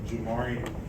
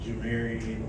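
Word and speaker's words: Jamarion: recruited by BMA U most people don't know don't know the right way to say my first name they actually jarian most people say like Jian or say any other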